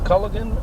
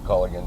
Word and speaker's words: Colgan: had a large family is it culligan or Cogan we call it call again that's Colgan the way it's spelled yeah cuz I noticed